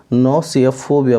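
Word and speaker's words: gnosiophobia: इसको जी आप साइलेंट रखेंगे और इसको नॉसियोफोबिया बोलेंगे।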